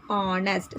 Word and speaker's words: honest: We write honest, but H is silent, so we read it as honest.